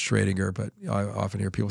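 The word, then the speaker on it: Schrödinger: you know or uh I think it's properly pronounced shringer but often hear people say Schrodinger but um you know uh Schrodinger was one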